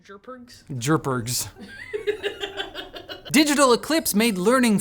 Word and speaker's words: JRPG: to Classic turn-based jrpgs it's pronounced jergs jergs digital eclipse made